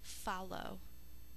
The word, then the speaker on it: follow: When we say follow in regular speech, we only hear the L once, the L, but we say it twice in when we think to spell it to make sure we get the double L in there.